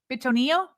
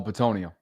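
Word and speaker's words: Bitonio: Betonio. Uh Joel Batonio. Betonio. That sounds way better. That sounded more like uh Italian there, Batonio.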